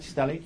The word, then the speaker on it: stellate: And am I pronouncing that right? Stellate.